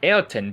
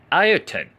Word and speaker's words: Ayrton: race weekends and said, "Why are you pronouncing my name like that? Ayrton. It's not Ayrton, but Ayrton."